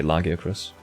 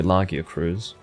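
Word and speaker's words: Lagiacrus: the name lagia cruz i usually say lagya chris or lagiacross i'm going to say lagia cruz because i think the c r u s would be cruz that's how they've tried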